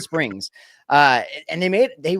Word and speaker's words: Springs: I want to say Springer every time I say his name. But Springs.